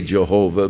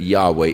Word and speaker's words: Yahweh: Now again, Yahweh is the name of God as far as we can know pronunciations that is as close as man. Some say Jehovah, but uh more generally